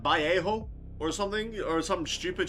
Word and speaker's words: Vallejo: Now, I know the correct pronunciation is Vallejo, but I'm going to call it as it's spelled out, Vallejo.